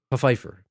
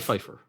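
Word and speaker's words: Phifer: Pfeiffer. Pfeiffer. No, it's Mekhi Pfeiffer. Mekhi Pfeiffer.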